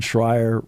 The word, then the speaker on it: Schreier: and John Schreier rhymes with choir.